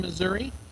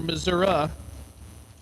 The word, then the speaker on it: Missouri: R track Mount Vernon Missouri or Missoura depending on uh where you live in that great state Miller chesse 444 the